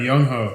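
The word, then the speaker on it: Younghoe Koo: I'm looking at Young Ho Koo. Young Ho. Yeah, no, you said it right. Young Ho.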